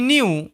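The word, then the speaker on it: knew: হি নিউ সে জানত এখানে কে silent. ওকে এন এর আগে কে থাকলে কে সাইলেন্ট হয়ে যায়। শব্দের প্রথমে হি নিউ সে জানত ্যাট যে এভ অ্যানিমাল প্রত্যেকটি পশু উড লাভ হাসবে।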